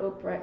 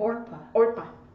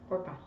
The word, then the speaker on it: Orpah: It's not Oprah, it's like Orpah. Orpah.